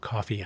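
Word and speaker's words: Ko-fi: k o hyphen f i Is that spelled coffee? I don't know. Coffee solo. I pronounce it like that cuz there's no hyphen, but whatever.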